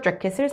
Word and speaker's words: jacket: winter jacket을 사기 위해서. 여러분 참고로 자켓 아니고요. 발음하실 때 여기 앞에다 강세 주시면 되고 캣이 아니라 킷 이 느낌으로 가서 jacket 하시면 됩니다.